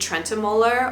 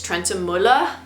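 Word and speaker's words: Trentemøller: for over a decade trenter or as we were like trying to pronounce it correctly I think it's Trent Mula I thought he was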